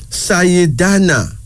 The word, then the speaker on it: Sayidana: Then there's Sayidana.